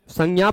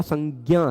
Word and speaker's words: संज्ञा: ना बहुत सारे लोग संज्ञा प्रबल देते हैं बहुत सारे लोग संजा प्रबल देते हैं ठीक है पर परंपरा प्राप्त उच्चारण हम सबका संज्ञा है हम लोग वही करते हैं तो एक अक्षर नाम